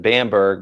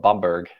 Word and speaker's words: Bamberg: The Americans pronounce it Bamberg, but I think the Germans call it Bamberg.